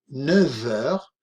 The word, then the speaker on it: neuf: 8 heures, il est 9 heures. Observad aquí cuando pronunciamos el número 9, neuf, con una F, ¿de acuerdo? De France, pero cuando hacemos el enlace con heure, vamos a pronunciar una V, v.